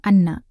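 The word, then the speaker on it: أنّ: Anna dengan nun bertasydid dibaca pendek artinya adalah bahwasanya atau sesungguhnya. Namun, kadang kita mendengar ada yang membacanya dengan panjang, menjadi anna.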